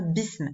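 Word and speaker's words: بسم: Mais puisque là, ici, j'ai la préposition bi, là, je ne vais plus prononcer la hamza comme un coup de glotte. Je vais dire bism.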